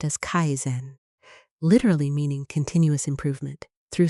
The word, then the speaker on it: kaizen: The first habit comes from kaizen, pronounced as kaizen, literally meaning continuous improvement through small steps every single day.